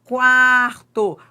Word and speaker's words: quarto: Só que em quarto, o U é pronunciado.